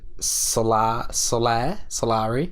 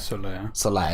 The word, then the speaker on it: Solaire: And he's just like, because there's like, oh god, the Solari? Yeah. I can't pronounce it. Solaire. It is Solaire.